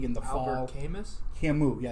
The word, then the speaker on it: Camus: Camus, yeah. It's spelled C-A-M-U-S, but it's I always Algerian and French, At least I know who it is.